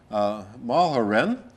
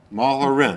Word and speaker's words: Mulherin: Our very special guest is Mulherin.